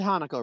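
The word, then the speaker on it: Hanako: Um, no, buddy, you you you said Hanaco, right? Thank you very much. You said it right.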